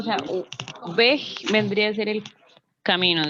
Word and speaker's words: Weg: Y diga Weg. Esa G se pronuncia como una G antes de una A o una U en español. No es Weg, sino Weg. Weg. No es tan duro como la K, ¿sí?